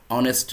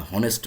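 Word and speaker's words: honest: অনেস্ট ম্যান, অনেস্ট ম্যান, অনেস্ট ম্যানকে আমি কিন্তু বলতেছি না হনেস্ট ম্যান, ঠিক আছে?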